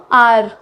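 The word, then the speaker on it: hour: Next देखो, आर, 1 आवर is left, तो 1 घंटा बाकी है। तो आर में एच साइलेंट है।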